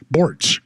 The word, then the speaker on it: Borts: tell people how to pronounce my name borts rhymes with sports other people have it